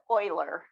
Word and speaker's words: Euler: that's not correct okay it's a german name so um it's euler like o-i-l-e-r but spelled e-u-l-e-r so this is e